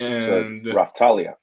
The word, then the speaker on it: Raphtalia: that he buys later on which is uh reptile earlier or is that how you pronounce her name right yes raphtalia right alias thank you and she is a